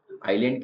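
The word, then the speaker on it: island: मैंने इसको आइल इसका मतलब होता है द्वीप आइलैंड के लिए दोनों शब्द है आई आइलैंड भी बोले जाएगा और आइल बोलने का मतलब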